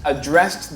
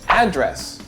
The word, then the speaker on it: address: For example, the host addressed the room in order to make a toast. Address, noun. Address, verb. That's the way it's separated in American English.